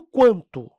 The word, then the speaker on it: quanto: é pronunciado agora no quanto no quanto Ó você tem aqui o quanto nesse caso o u é pronunciado quilo o u não